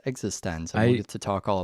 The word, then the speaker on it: eXistenZ: sneakers and existense which thankfully I know is pronounced existence I used to talk all about that yeah